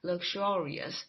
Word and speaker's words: luxurious: 时候啊，一定要注意它的发音呐、啊，重音在第二音节 luxurious。